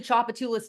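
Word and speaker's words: Tchoupitoulas: for example, who loved the Chopatulas T is silent tweet by him, clearly understands Tulane.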